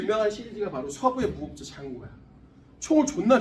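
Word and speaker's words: Django: 이 역시 서부의 무법자 장고라고 알아? 총잡이 장고. 장고의 진짜 이름이 원래는 BJNGO야. G는 묵음이야.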